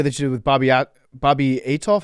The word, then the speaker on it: Althoff: So I saw the video that you did with Bobby Atoff. How do you say her name? Oh yeah. Bobby Althoff.